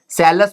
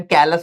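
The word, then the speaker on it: callus: सेलस बोल सकते हैं या कैलस बोल सकते हैं। Most of the time कैलस बोला जाता है। ठीक है? मेरी थोड़ी प्रोनाउंसिएशन गड़बड़ाई हुई है। कैलस बोलते हैं इसको।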